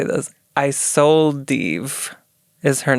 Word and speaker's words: Isolde: Isolde is her name. It's spelled I sold Eve, but one word.